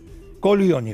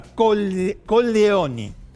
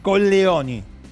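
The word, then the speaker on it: Colleoni: Atent porque según cómo lo pronuncie puede decir condesa o condesa coloni porque Coglioni en italiano son los testículos. ¿Se entiende? Bueno, entonces pronunciémoslo bien. Con Leoni.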